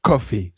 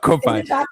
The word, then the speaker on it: Ko-fi: As we leave, um, Ko-fi, I can see the Ko-fi owner being like, "And by the way, it is coffee, okay? Not Ko-fi. Coffee."